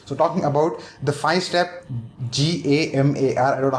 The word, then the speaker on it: GAMAR: Anyway, so talking about the 5-step GAMAR, I don't know how you want to pronounce it, you can pronounce it. We'll call it the GAMA with R silent.